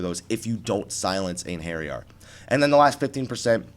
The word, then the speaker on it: Einherjar: So with that out of the way, the only advice I have is silence Einherjar, or Einherjar as it's spelled but not pronounced, because that was probably the biggest move that was wiping people all day.